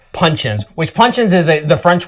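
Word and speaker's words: puncheon: Rested an additional 9 months in 600 L Pino Day Shanti punchins and bottled at 100proof.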